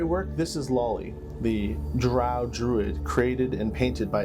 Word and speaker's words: drow: you who don't know drow elves are almost 100 inherently evil and are such maligned and prejudiced accordingly in the forgotten realms this is pronounced drow or incorrectly dro also known as deep